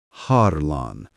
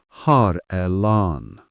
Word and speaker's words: Harlan: "Harlan," she said, somehow breaking my name into 3 syllables. "Har-Elan."